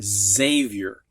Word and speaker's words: Xavier: like in x-ray but most often it sounds like z like in the boy's name xavier which is actually spelled with an x and there are many